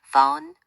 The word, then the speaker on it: phone: PH는 주로 F 소리를 내요. phone, photo, elephant 같은 단어들처럼요.